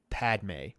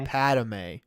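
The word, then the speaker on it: Padmé: the hardest time pronouncing Padme Padme I always want to say Padme Padme because it feels like there's another vowel there it feels like there's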